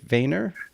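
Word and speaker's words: Vænir: They're very different from the Empress Rising to How do you pronounce the 2015 record? Vanier.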